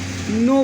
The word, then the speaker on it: know: तो ये कनऊ नहीं है, ये नो है। यहाँ पे के साइलेंट है।